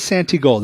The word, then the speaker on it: Santigold: bunch of faults printer no it is sant it is santi gold it's an I their